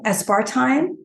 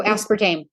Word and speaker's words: aspartame: also um has um what is it called aspartime so aspartame aspartame yes see I can't pronounce these it's okay that's what I'm here